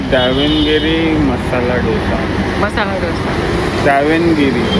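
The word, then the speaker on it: Davanagere: मंगाया कॉफी और ये दावनगिरी मसाला डोसा मसाला डोसा दावनगिरी दावनगिरी मसाला ये है ना हां प्रोनाउंसिएशन अब हम सही बोल रहे हैं दावनगिरी पता नहीं दावनगिरी गिरी नहीं गिरे हां अच्छा ये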